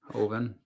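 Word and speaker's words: Hoeven: I want to make sure I get these pronunciations right when I call him. Hoven. Okay, that's what I was saying. Hoven.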